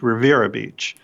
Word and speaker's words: Riviera Beach: should be spelled Riviera it's pronounced by those of us who are locals as Rivera Beach and little small community